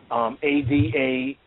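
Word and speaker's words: Adamah: So Artez, the second one, A-D-A-M-A-H, Adama, reddish mole.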